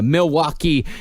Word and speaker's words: Milwaukee: That's how it's pronounced. Is Milwaukee.